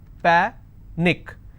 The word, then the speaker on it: panic: Panic is pa-nick, which means I will stress on pa and it's pronounced as panic.